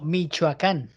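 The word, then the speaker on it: Michoacán: No, Michoacan.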